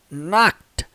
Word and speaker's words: knocked: ED aqui no final, a pronúncia dela, de acordo com a transcrição fonética, dá uma olhada aqui, ó. Knocked, knocked, knocked. Tem um som do T, gente, no final, tá?